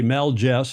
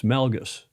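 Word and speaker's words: Melges: Some people say Meliss. It's not. It's Melgus. Melgus. It's not Melgus like a J. It's Melgus.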